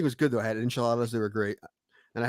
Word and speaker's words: enchilada: I had enchiladas; they were great, and I had a margarita. No, at that restaurant. It's pronounced enchilada.